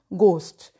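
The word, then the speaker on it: ghost: में भी हा खामोशियां घोस्ट कॉमनली मिस प्रोनाउंस शब्द है बहुत बड़े लिखे लोग भी इसे घोस्ट बोल देते हैं सही उच्चारण है गोष्ट नहीं बोलेगा कविता की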